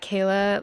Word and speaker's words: Kela: And my name is Kayla, so it's K L A and then. So, it's spelled a little bit differently, but if you look that up, you can definitely find all my things.